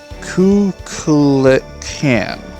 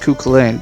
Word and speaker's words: Kukulkan: And the Mayan deity Kukulkan. Almost Kukulane, but not quite.